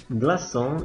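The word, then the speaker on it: glaçon: dibaca S walaupun e diikuti oleh A jadi walaupun a i terserah dia akan selalu dibaca S fas GL Kalau sa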